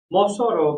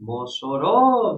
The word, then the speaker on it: Mossoró: Mossoró, que é a cidade em que nós estamos aqui, né, presencialmente. Mossoró, veja, a sílaba tônica é uró, é a última.